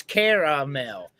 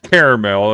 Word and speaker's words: caramel: it's only caramel if you spell it with the E in the middle. If you leave the E out, and both spellings are correct, if you leave the EL, it's caramel.